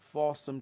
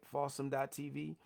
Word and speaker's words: Fawsome: Fawsome TV. It's spelled like awesome with the letter F.